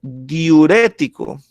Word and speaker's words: diurético: Y si ustedes analizan, está en esta sílaba el acento, ¿sí? Que sería la tercera sílaba o la antepenúltima sílaba.